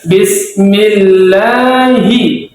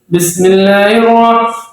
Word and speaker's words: Bismillahi: tapi harus juga dia dibaca dengan jelas Bismillahi jangan Bismillahir enggak jelas hinya jelas dia jelas tapi jangan terlalu besar Bismillahi Hi itu sudah